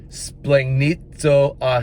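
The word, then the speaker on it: σπλαγχνίζομαι: moved with compassion it's a long Greek word splink splink need so aki that's how it's pronounced SP la g CH ni z OU m ay i splegg needs o ah he moved with compassion it means to be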